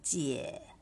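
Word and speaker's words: 姐: ซื้อ บอก นะ คะ จะ ต้อง ออก เสียง เจี่ย EA นะ คะ ไม่ ใช่ ER ค่ะ ส่วน น้อง ชาย นะ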